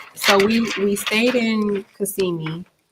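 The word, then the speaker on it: Kissimmee: Um, so we we stayed in Cassimi. Did I say that right this time? Cuz normally I would say kissing me, but the the locals was telling me, you know, girl, you weren't saying it right.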